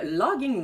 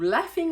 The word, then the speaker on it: Laughing: Maintenant, pour le café, on a reçu de Logging Whale Coffee ou Laughing Whale Coffee. Même si c'est marqué GH, ça se prononce F.